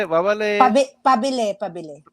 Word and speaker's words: Pabili: Mabale, how you say it? Mabale, Pabili, pabili. pabele, Pabili po.